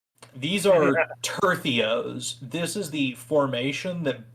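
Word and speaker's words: tercios: yeah no one no one's immortal but the tertheos and it doesn't look like it's supposed to be tortillas but this is apparently how you're supposed to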